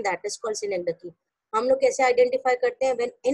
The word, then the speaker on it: synecdoche: इट इज सिनेकडकी, बट आई am used to saying it's called it सिनेकडॉक, सो I will better use that. Actually it's pronunciation is सिनेकडकी. यू can Google it.